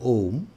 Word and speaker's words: om: significance of the word om here divided into three syllables ah ooh and true understanding the significance of the word om the upanishads takes us